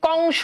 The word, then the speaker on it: কংস: এবার দেখো তো এই যে কংস, খেয়াল করে দেখো কংস, খেয়াল করো কংস, একটু ভালো করে বুঝো, ভালো করে বুঝো, না বুঝলে কিন্তু কপালে দুঃখ আছে।